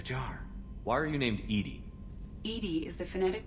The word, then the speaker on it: EDI: airlock is a jar why are you named Edie Ed is the phonetic pronunciation of Eed where are you my core